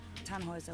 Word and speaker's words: Tannhauser: why what's your name Tannhauser we pronounce it Tom Moser with an armload German